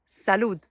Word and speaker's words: salud: And same for every word in Spanish that finish by a D. For example, salud.